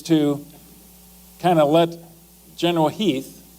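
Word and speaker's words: Heth: Lee's intent actually is to kind of let General Heath, it's spelled H E8, but it's pronounced Heath, to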